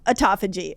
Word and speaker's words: autophagy: Yeah, I kind of landed on autophagy.